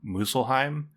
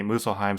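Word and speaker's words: Muspelheim: icy realm and then muselheim I think that's how you pronounce it there's a p in there that I'm not pronouncing but I think it's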